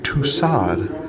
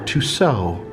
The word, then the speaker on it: Tussaud: queen of wax museums herself miss madame tussaud or two so or two squads just depends on how you want to pronounce it see that she's making